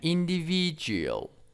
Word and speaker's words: individual: And individual, individual, individual. It's kind of noun. And the stress is on the third syllables.